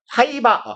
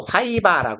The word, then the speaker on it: 파이버: 뭐가 부족한 상태 파이버 파이버 혹시 알아요 이거 우리 오랑 캐식 발음으로 하이바라 하는 거 쓰지 마세요 비표준 발음입니다 심지어 그 그 편의점에서 미에로 화이바 이런 거지도 파나요 어